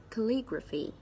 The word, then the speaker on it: calligraphy: be the word calligraphy calligraphy there are four syllables and of course the stress is on the second syllable Li Gras feat calligraphy calligraphy calligraphy